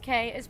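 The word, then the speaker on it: Cay: obviously pronounced caribbean key of course the other pronunciation would be caribbean k but how silly does that sound okay it's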